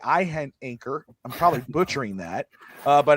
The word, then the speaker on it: Iheanachor: Is the I silent? That would make it easier for me. Yeah. Iheanachor.